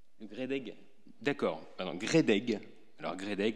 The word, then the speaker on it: GREDEG: d'Azur, donc Nice, et qui est membre du CREDEC. C'est bien comme ça qu'on prononce ? GREDEG.